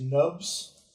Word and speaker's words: Gnubs: My name is Nubs, spelled with a G, like Gnubs, the Gnome.